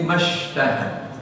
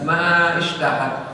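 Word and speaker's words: ما اشتهت: Dan ma-nya tidak dibaca panjang ya, langsung lebur dalam shin mashtahad ya. Wa hum fi mashtahad, bukan ma ishtahad gitu ya, atau ma ishtahad ya.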